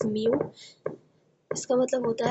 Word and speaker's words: μ: सो the velocity of these कॉपरस्कल्स इन an isotropic medium that is same μ ये जो ये है ये u नहीं है इट इज़ प्रोनाउंस्ड एज μ इसका मतलब होता है रिफ्रैक्टिव इंडेक्स।